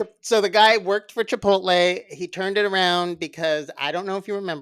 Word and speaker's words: Chipotle: walk in chipot chipot Chipotle you can't even say it right chipot even if you try Chipotle there you go I said it I